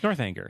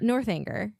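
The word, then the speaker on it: Northanger: I'm still unclear if it's a soft G or a hard G. North Anger. North Anger. North Anger. Like anger, right?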